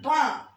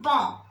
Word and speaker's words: banc: C'est un banc. B-A-N-C. Banc. B-A-N-C. It is pronounced bon. The last C is not pronounced.